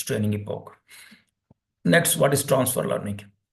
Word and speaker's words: epoch: the the pronunciation here it's not Epoch it's epoke epoke epoke okay so it will